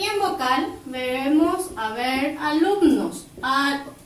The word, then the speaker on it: alumno: La palabra alumno, al separar en sílabas, tenemos así. Como vemos, termina en vocal, se carga la voz aquí, pero lleva acento prosódico.